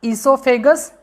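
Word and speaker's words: oesophagus: Second part होता है ईसोफेगस, इसमें ओ साइलेंट है।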